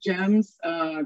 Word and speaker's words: GEMS: That said, from just our own work at GEMS, we generally don't pronounce the acronym, we pronounce it as the whole word. So at GEMS, Girls Educational Mentoring Services,